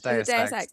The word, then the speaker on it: Deus Ex: How do you pronounce this? Deus Ex. We established it was Deus Ex.